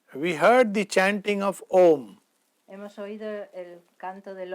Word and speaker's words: Om: In English, we will use 3 syllables to describe it. En inglés lo describimos con 3 sílabas. A, U, Ma. That's how it is. Ma. Om.